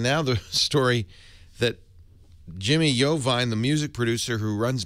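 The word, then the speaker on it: Iovine: don't know table says yovine is pronounced iven i o v i n e you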